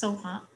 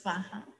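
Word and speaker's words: svāhā: so the last syllable sometimes tibetans pronounce soha and sanskrit it's vaha let's see if we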